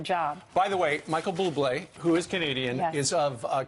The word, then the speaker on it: Bublé: It's Bublé. It's not Boob-lay.